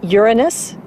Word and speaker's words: Uranus: I pronounce the planet's name Uranus, which is very likely closer to the original pronunciation of the name of the god after whom it was named.